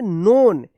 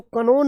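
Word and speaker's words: known: यहां पे भी एन से पहले के आया है तो के साइलेंट हो गया है। के एन ओ डबल एन। क्या पढ़ेंगे? नोन। इसको कनोन मत पढ़िएगा।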